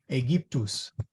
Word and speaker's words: Aegyptus: Okay, so the AE is a long E sound. A, G, to, Aegyptus. Every letter is pronounced.